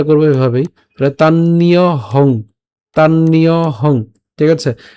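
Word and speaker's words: তান্যহং: আসতেছে তা সাধারণত আমরা এভাবে বলি না আমরা উচ্চারণটা করব এভাবেই তাহলে তাননিয়হং তাননিয়হং ঠিক আছে তাননিয়হং একসাথে তানহং বেদ সরবানি এফটা আগে উচ্চারণ হচ্ছে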